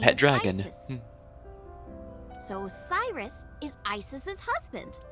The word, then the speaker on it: Isis: What's A set Horace's exactly? mom is named Isis. But in ancient Egyptian, it's pronounced closer to Ise or Aset.